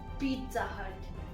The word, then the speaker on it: Pizza Hut: It's pronounced Pizza Hut. Pizza Hut. Not Pizza Hut, Pizza Hut. Neither is it pizza. Many people say pizza, but it's actually Pizza Hut.